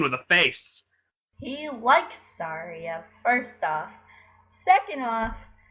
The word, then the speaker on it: Saria: It's Saria.